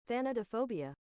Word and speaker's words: thanatophobia: There's just actually not even a singular way I could ever pronounce that. With that said, show me how to say it. Thanatophobia.